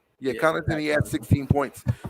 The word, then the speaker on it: Connaughton: Middleton, 16 points, and that other guy, I don't even know how to pronounce his name. Grayson Allen. No, not Grayson Allen. Connaughton. Oh, Connaughton. Yeah, Yeah, Connaughton.